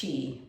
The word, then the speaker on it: Qi: it's spelled Qi but it's spelled it's pronounced Chi right the Life Energy the